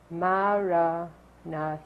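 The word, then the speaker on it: Maranatha: language that Jesus spoke and so we say it in four equally stress syllables so we sit up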